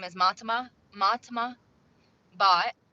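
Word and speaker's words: Bhatt: name is matma matma bot it's pronounced bot it's spelled b h a t t but it's uh she's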